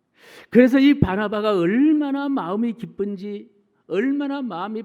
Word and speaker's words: 바나바: 예루살렘 교회에 적을 둔 바나바 예 어 발음을 닮은 하면은 바나나가 되는데 바나나가 아니고 바나바 거꾸로 해도 바나바이 바나바 집사님 바나바 안수